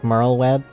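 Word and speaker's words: Merlwyb: How would one pronounce her name? Merle Web. Yeah, it's like Merl Web. It's actually not that complicated.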